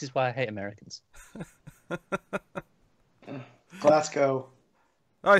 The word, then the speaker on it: Glasgow: Glasgow. Glasgow. Ignore the W. W is irrelevant. We don't bother with them.